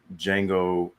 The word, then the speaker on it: Django: I was like, Django from Star Wars, Django Unchained. They're spelled differently, but pronounced the same.